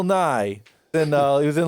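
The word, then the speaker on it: Nighy: uh Bill Nye and it's not ours not Bill Nye the Science Guy it's n-i-g-h-y I looked up how to pronounce it on the goddamn computer it's Bill Nye and uh he was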